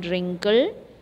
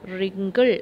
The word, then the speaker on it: wrinkle: pink pink third one wrinkle wriggle right fourth one worry work wonderful here you can notice that in the third column the letter w is silent okay number pronunciation wrinkle in the remember w